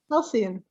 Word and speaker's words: halcyon: How do you pronounce this word? Okay, so halcyon, yeah. Halcyon.